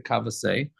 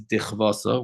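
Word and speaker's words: דכוותה: and Gemara asks the kavasei, or really the way it's supposed to be pronounced is dichvasa, which for some reason in the Yeshiva world they don't pronounce it that way.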